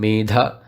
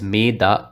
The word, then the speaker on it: medha: also if you're reciting ensure that you recite the maha prana in medha because if you pronounce it as meda as in if you do not emphasize the force in da you literally change the meaning you literally change what